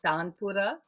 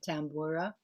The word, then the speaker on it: tanpura: actual instrument itself well in indian pronunciation is tanpura american or english people like to call it tambura oh tampura you're right